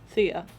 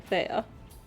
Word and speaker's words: Thia: good plan in place how do you pronounce my nickname thea you keep saying fair oh in my defense thea is t-h-i-a and and the other word has an e in it so my brain goes thea.hex also there's